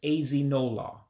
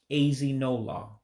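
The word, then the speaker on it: ezinụlọ: Actually, I'm mispronouncing this. Ezinola. Ezinola means family.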